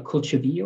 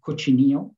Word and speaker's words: cochinillo: It was its own mythology, the mythology of a mythical monster, which was half pig, half sea monster, called a cochivillo or cochinillo, depending on which pronunciation you use.